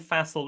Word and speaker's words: Faisal: e replace the C with an f and Fel that's the easiest I've learned to describe to